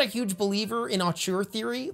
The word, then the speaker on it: auteur: I just realized I've been reading the word auteur online all this time, and I've never really said it out loud, and I think it's actually pronounced auteur. Auteur. That doesn't sound right to me.